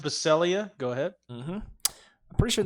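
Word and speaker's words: Baccellia: I don't know much about Mike Wilson it's pronounced baselia go ahead I'm pretty sure that's true and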